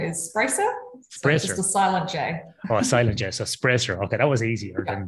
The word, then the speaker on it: Sprajcer: by and that's your q to pronounce your second name of your surname my second name is spricer okay that was easier than some other ones